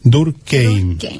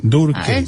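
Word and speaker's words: Durkheim: suicido de emil durc búscate a durkeim en la se escribe dur tal como te estoy esto K h e i m durc durc el suicidio Bueno este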